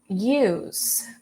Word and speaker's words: use: Use, use. This one, we don't have the S sound at the end. We have the Z sound.